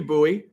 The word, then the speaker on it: Bowie: Russian Bots and everything else um thank you buoy for the multiple gifts um I I don't or Bowie it's funny I say buoy because that's how that's the town in Maryland